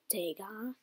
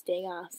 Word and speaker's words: Degas: So Edgar Degas. Oh, it's Degas. It is off. Yeah, but you don't pronounce S.